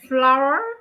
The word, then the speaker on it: flour: So, we will take some flour. Is that farine? Flour? Yes, okay. Flour. Okay. C'est le même mot que fleur. Ça se dit de la même façon, mais ça s'écrit de la même façon.